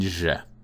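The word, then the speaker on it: ж: So it's like the Zjeh in pleasure, or in French, je, like je ne sais quoi, Zjeh. Pleasure. Okay? Yo and Zjeh.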